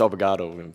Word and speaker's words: obrigado: Said it wrong. It's obrigado. Obrigado.